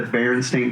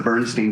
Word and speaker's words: Berenstain: A lot of people misremember the children's book, The Berenstain Bears, as being pronounced the Bernstein Bears.